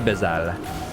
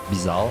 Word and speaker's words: Bizarre: If I was taught in French, I would say Bizarre. I would say like Bezat. So I guess that's the right way to pronounce it because it's my name, fuck you. So it's Bezal.